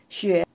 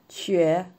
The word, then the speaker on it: 雪: Xue means snow. The third tone, Xue, snow.